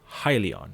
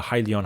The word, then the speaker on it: Hyliion: talking about, which is Hyliion. It tends to rhyme with Hyzon, and many people tend to actually get them confused.